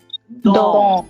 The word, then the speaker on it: dans: What was the pronunciation of DANS? Dong. Did I pronounce S? Did I pronounce? No, sir. No, sir. Only TN. Word, in that particular word, after AN, there is a single alphabet S.